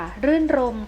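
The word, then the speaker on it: รื่นรมย์: แต่ ถ้า ไป ค่ะ รื่น รมย์ ค่ะ รื่น รมย์ เกาะ ยอ ยักษ์ การันต์ ไม่ อ่าน ออก เสียง ตัว นี้ นะ คะ ก็ จะ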